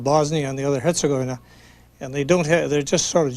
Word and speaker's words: Herzegovina: In most of these words that are Serbian or Croat, the accent is usually on the first syllable.